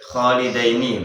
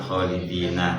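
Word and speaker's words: خَالِدَيْنِ: Khalidaini bukan khalidina, maknanya juga beda.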